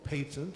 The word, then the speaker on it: patent: in this case called a patent or patent as it's sometimes pronounced in England where I live what would you think